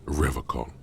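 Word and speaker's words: Revachol: but someone he pronounces revacon with a hard k unlike other people i like to pronounce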